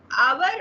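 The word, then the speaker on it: hour: अब देखिए आवर और ऑनेस्ट जो है एच साइलेंट है, ठीक है, और एच के बाद जो है क्या है, वॉवल साउंड है, ऑनेस्ट और आवर, है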